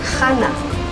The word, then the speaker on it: Hannah: I'm your guide, and my name is also difficult for Americans to pronounce because it has the Ch sound that so many of the names have, Hannah. So if you cannot pronounce Hannah, it's okay, Hannah, Anna, and these are all the same names.